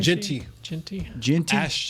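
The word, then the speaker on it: Jeanty: We were just talking about the guy in Boise at Boise State, Jerry how do you pronounce his last name? Genty.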